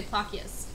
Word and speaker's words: Plakias: We're in Plakias, or Plakia, however you pronounce it. Most people say Plakias, but I was told it's pronounced Plakia.